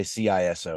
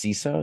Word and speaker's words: CISO: it yeah yeah and CSO that's how you say it you don't say ciso it's CSO is that anything so